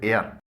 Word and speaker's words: heir: کے معنی ہے ہوا۔ اسی ساؤنڈ کا ایک اور ورڈ ہے ایئر، اس کی اسپیلنگ ہے HEIR۔ اس میں H سائلنٹ ہے۔ اس ایئر کے معنی